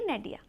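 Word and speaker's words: nadir: is eight नडिया देखिए इसमें आर जो होता है ये साइलेंट होता है ठीक है तो इसे हम पढ़ेंगे नडिया ओके अब देखिए इसकी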